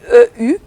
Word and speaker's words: Eupsyque: Son nom s'écrit E-U-P-S-Y-Q-U-E.